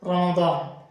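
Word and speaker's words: رمضان: ইমরান আছি আপনাদের সাথে দর্শক আজকে আমরা শিখবো রমাদান বিষয়ক শব্দাবলী এবং বাক্যবলী তো যাই হোক শুরু করি আজকে আমরা প্রথমে যে শব্দ শিখবো সেটা হচ্ছে রমাদান রমাদান অর্থ হচ্ছে রমজান এটা হিজরি একটা মাসের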